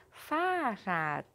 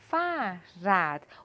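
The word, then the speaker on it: Fahrrad: então bicicleta em alemão farat farat e o artigo É das das farad o h nós não pronunciamos tá farad como que eu posso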